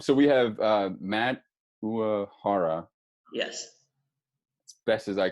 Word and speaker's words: Uohara: So the true Japanese way of saying it is Uohara, but a lot of people kind of blend it with an Irish pronunciation. Yeah. So it's like O'Hara, but any way that you want. Uohara seems to be the easiest.